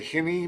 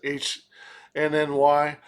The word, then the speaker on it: HNY: Uh HNY who sometimes I I feel like I want to say henny, but I don't think that's pronounced that way. It's just the abbreviations HNY.